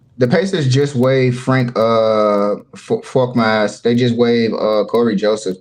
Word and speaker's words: Korkmaz: No, you said it right, Frank Korkmaz.